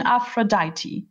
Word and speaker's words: Aphrodite: Pronunciation Aphrodite, the goddess of beauty, and during the celebration held by the gods to celebrate her birth.